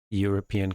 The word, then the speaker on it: European: Again, spelled with a vowel, but European is not pronounced with a vowel, but with a consonant. So we have to use Simon lives in a European country.